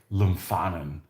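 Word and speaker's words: Lumphanan: Sounds like Lumphanen. Oh, so you do pronounce the PH. Interesting. I would have never guessed that would have pronounced the PH.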